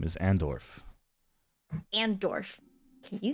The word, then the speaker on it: Andorf: do also what's your name my name is andorff and Dorff can you spell it for me a-n-d-o-r-f andorth I originally hail